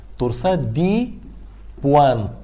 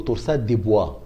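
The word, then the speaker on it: torsades de pointes: يحصل نتيجه برولون جيشن ده هو اسم فرنساوي تورساد تورساد دي بوانت تورساد دي ب وانت بعض الناس ينطقها هو طبعا فرنش فرنش تيرم يعني هي جمله فرنساوي بعض الناس يحللهم يقولوا تورسات ديبوا اوكي بعض الناس هتسمع يقوللك تورسات دي بوانت بعض الناس الانجليز خصوصا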